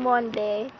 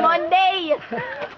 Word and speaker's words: Monde: kami nung Mamon yung Monde Ilan Ilan yun ilan mond Ano ba dapat Monday m m lang silent e Okay Loud Loud Tapos